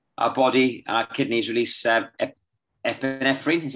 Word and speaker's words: epinephrine: do nasal breathing our body our kidneys release epinephrine is how you say it yes yeah which